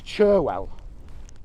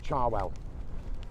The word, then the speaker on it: Cherwell: it's proper name is cherwell but as you come north in the country the people pronounce it more like charwell and um that's why